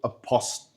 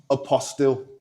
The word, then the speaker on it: apostille: So, it's a process called apost- apostille. I can't pronounce this word to save my life. It's a p o s t i l l e. Apostille.